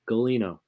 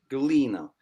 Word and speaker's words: Gulino: Galino. Oh, that makes sense. Proper East Coast Italian, you know. Galino, dude.